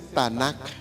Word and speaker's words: Tanakh: ¿Cómo se dice en hebreo? Tanakh. No se dice Biblia, se dice Tanakh.